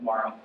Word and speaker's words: Mauro: My mom pronounces it Mauro, but if you can't roll the R, perfectly fine. I'm cool with Mauro.